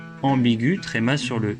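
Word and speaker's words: ambiguë: Au féminin, on ajoute un E, mais G plus U plus E se prononce G, comme dans vague. Donc, on met un tréma sur le E pour indiquer qu'il faut prononcer le U, ambigu.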